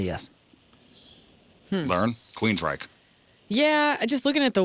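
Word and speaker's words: Queensrÿche: The only thing that I'll say is the umlaut is over the Y and it doesn't change the pronunciation.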